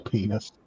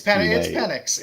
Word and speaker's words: Penix: Michael Penis, poor guy. Hopefully it's not pronounced that way. Hopefully it's pronounced. It's Penix.